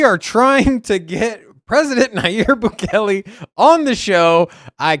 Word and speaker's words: Nayib: It's not Nayir. It's Nayib.